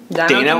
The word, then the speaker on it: Dana: back in the studio Dana with the nose nose is it Donna or Dana uh they say Dana back home but apparently it's very hard to pronounce in America so I go with my day now I don't